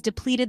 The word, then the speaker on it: deplete: a drought that has depleted the water supply for crops the pronunciation is deplete with the stress on the second syllable you can use it